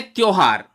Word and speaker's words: त्योहार: तो उच्चारण ठीक करिए, त्योहार। अब आप उच्चारण ही करेंगे त्योहार तो परीक्षा में यह आपको सही लगने लगेगा भैया। इस बारे में कोई कुछ नहीं कर सकता, बिल्कुल ठीक एकदम गलत है। त्योहार उच्चारण है त्योहार।